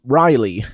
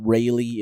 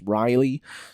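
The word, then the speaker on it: Reiley: that was held yesterday um a singer named Riley and I've confirmed that is the pronunciation it's not Rayleigh it's Riley um with the song Breaking My Heart um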